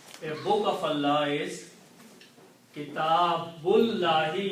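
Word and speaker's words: كِتَابُ اللَّهِ: So it becomes Kitabullahi. Okay, so the correct translation, a book of Allah, is Kitabullahi. You do not pronounce this alif in between.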